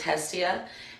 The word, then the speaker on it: Hestia: May you talk more about Hestian if it's spelled like that? It's actually Hestia. Drop the N and you got it.